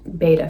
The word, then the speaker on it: betta: have recently gotten into betta fish or betta fish you can pronounce it both ways and i just wanted